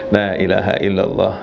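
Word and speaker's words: لا إله إلا الله: Tapi yang bagus bacanya ya, la ilaha illallah. Kalimatnya, la-nya itu panjang, la ilaha illallah, la ilaha illallah.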